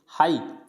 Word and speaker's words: high: अलावा अलग है ये हाई, तो HIGH इसमें जी साइलेंट होता है हाई।